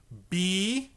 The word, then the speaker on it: bass: Now, bass in music is spelled B-A-S-S.